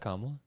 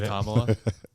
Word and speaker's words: Kamala: makeup too oh yeah is that kamla Nice Nice pronunciation is that how else can you say it Kamala oh it's Kamala it's Kamala yeah um anyway Brock Bowers